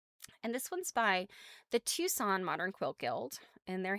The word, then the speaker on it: Tucson: type Tucson, I'm like, I know that is not how Tucson is spelled. There's some silent letter in there.